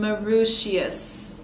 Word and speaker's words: Mauritius: Does McGill accept people from Mauritius? Did I pronounce that right?